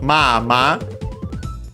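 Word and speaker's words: まあ: Accent on the first syllables, on the first ma.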